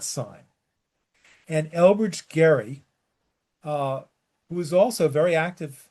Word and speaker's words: Gerry: As a point of pronunciation, too, it is Elbridge Gerry, not Jerry.